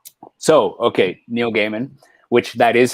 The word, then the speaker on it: Neil Gaiman: standing beside them so yeah right so okay neil gaiman which that is how you pronounce it by the way i watched a